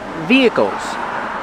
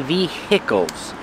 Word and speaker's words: vehicles: at any time pronunciation vehicles Vehicles the H is silent we do not say Vehicles it's via the vehicles vehicles is another